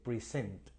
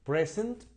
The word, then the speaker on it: present: a la clase Okay entonces present noad como noun y present como verbo aquí tenemos en segundo